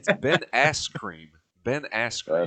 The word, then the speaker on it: Askren: It's Ben Askren. Ben Askren. Askew.